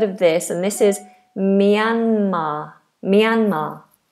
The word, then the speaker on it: Myanmar: And this is Myanmar. Myanmar. Myanmar is how we pronounce it.